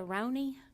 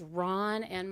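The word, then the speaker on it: Rona: can I speak to Ronnie? And he said, who? And I knew then I was mispronouncing her name. He said, this is Ron, and my daughter's name is Ron A.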